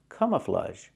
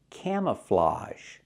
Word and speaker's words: camouflage: kind of camouflage camouflage the word is not pronounced camouflage it's pronounced camouflage so the a is pronounced with a short a sound like ham and maam Cam camouflage and the last vowel is a it's an open sound like hot and stop camouflage not camouflage but camouflage he's wearing camouflage